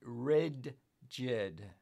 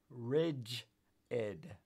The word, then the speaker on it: rigid: uh I was too I pronounce it wrong I always say red jid instead of Ridge Ed oh God oh God